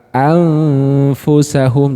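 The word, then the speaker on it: أَنْفُسَهُمْ: Anfusahum.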